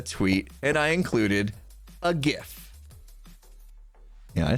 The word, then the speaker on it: GIF: somebody's like oh well the person that actually invented jiff says it's pronounced jif so it must be